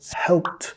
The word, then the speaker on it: helped: Pasado, helped. Pasado participio, helped. Igual, estas dos nota que el ed se pronuncia como t.